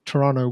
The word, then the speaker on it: Toronto: think the pronounce it Toronto so that's what I keep hearing but from Canadians you pronounce it Toronto without the T but hey man we're